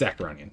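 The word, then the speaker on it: Acheronian: Or 14 per swing, but the Ericonian... Arconian... I don't remember. I don't know how it's pronounced. Acaronian. It's Acaronian. That's how it's pronounced.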